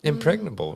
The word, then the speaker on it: impregnable: Yeah, I was wondering if you say the G or not, but yeah, you do.